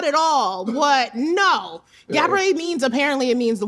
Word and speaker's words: Gabourey: You have to say Gabriet.